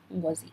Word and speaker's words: Ngozi: Yes, it's Chimamanda Ngozi Adichie, in case you're not too familiar with how to pronounce the name.